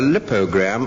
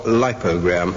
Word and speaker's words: lipogram: Anne Scott James, a lipogram or lipogram, L-I-P-O-G-R-A-M, and again, I'm not certain on which syllable the action should be. The dictionaries differ.